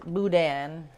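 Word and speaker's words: boudin: And it's pronounced budan.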